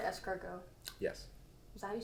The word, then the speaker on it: escargot: know if i'm saying it right oh it's pronounced liskogo it's so good i was not expecting it